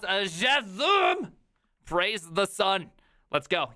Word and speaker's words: JSON: It's pronounced JSON.